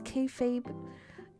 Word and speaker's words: kayfabe: This is kayfabe.